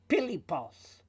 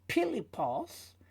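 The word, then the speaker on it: פיליפוס: And then we've got pilipos. Because of the dot in there, they are both pei, not fei. And of course, in English, it's Philip, so it's using the fei, actually. But in this sense here, it's pilipos, and then we have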